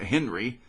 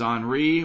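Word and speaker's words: Henri: re with an i so it's not henry it's on re with an i and the h is silent mindy nicholas just to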